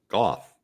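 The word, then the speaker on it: Gough: we have learned that Michael Goff is Michael Goff as in cough Goff and Jerry Chandler tells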